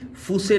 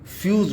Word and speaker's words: fuse: FUSE फूसे ना बोल करके हम फ्यूज़ बोलेंगे।